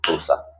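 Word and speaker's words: Xhosa: x h o s a voice but it's pronounced closer closer language.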